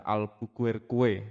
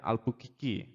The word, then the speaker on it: Albuquerque: Seperti yang kita ketahui sendiri bahwa di tahun 1511, Alfonso de Albuquerque atau orang-orang banyak yang membaca Albuquerque. Nah, sebenarnya bacanya Albuquerque.